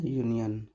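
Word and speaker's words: union: हैं अ यूनियन है, तो यू तो हमारा वोवेल लेटर है बट इसका जो साउंड है, साउंड हमारा वोवेल लेटर है, इसके बावजूद साउंड हमारा कॉन्सोनेंट की तरह आ रहा है, वोवेल की तरह नहीं आ रहा है।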